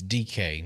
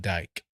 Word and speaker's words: Dike: And it's DK, not Dike. Whatever. It's spelled like Dike, d i k e.